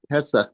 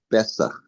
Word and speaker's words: Pesach: They say Bay, like Pesach, they say Besach. Correct, because in the Arabic language there is no hard P.